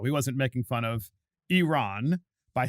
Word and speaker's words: Iran: say to Tyler Adams, it's not Iran, it's Iran. You don't know how to pronounce it.